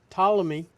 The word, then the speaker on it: Ptolemy: Here's an article I had on Ptolemy. The P is silent.